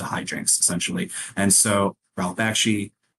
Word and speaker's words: Bakshi: Bakshi.